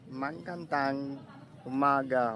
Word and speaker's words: magandang umaga: is it Iliganon or Gainon, or however you pronounce that one? And they've just said you have to say Magandang Umaga or something.